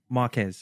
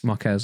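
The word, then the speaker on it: Marques: why I think Marcus Brown people- sorry, what's his? Marcus Brownlee, I can never- MKBHD. I can never pronounce his name. Oh, yeah, yeah. Can you guys teach me? Marquez, Marquez.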